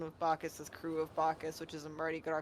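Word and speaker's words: Bacchus: How is it pronounced? Huh? Bacus.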